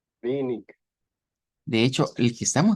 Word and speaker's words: wenig: Algunas veces tenemos el sonido IG y que se pronuncia, nos dicen como una IJ, pero en otras veces se pronuncia como IK. Y tenemos este ejemplo. Eh, Aquí está como con K.